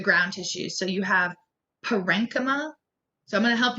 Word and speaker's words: parenchyma: words because they're not, it looks like parenchyma. You can say parenchyma, it's not wrong, but parenchyma is a better way.